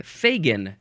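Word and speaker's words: Fagin: effect we have I think that's a long a Fagan f a g i n I believe this one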